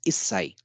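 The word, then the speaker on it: issai: so it is I it is isai and do you know why this exception because HSI is little bit difficult to pronounce it's not free flowing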